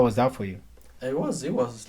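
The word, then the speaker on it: Ayiti: IT.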